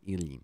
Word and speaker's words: Ilyin: Ilyin said his name wrong. Ivan Ilyin.